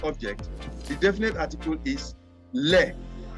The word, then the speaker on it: les: the definite article is leg l it is not less it is you don't pronounce the s wow so like why